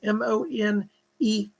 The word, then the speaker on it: Monet: impressionists were beautiful paintings claude monet m-o-n-e-t but it's pronounced monet he's gonna work with